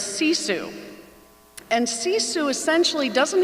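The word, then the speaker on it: sisu: in our family but it's a finish word and it's see Sue and see Sue essentially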